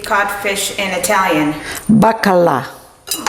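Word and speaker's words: baccalà: bakalo how do you say codfish in Italian bakala oh it's almost the same it's almost the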